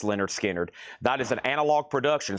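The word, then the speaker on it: Lynyrd Skynyrd: And I also have Leonard Skard, pronounced Leonard Skinnard.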